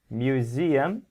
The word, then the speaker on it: museum: building okay and here museum where is the stress z ah very good so we say mu z m using three syllables three parts museum okay